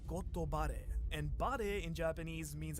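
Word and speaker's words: ゴッドバレー: Now in Japanese, God Valley is actually pronounced as Gotobare, and bare in Japanese means actually to be exposed.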